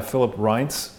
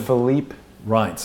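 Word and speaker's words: Philippe Reines: But here's an email that went to that guy, that awful guy, Philip Reince, you know, the PR hit person. Oh, Philippe Reince, it's pronounced.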